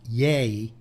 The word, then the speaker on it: Ye: Yay. Yee. No, yay. No. Why eat? No, it's a yay. It's yay. It's pronounced yay because it was Kanye, so he just dropped the con.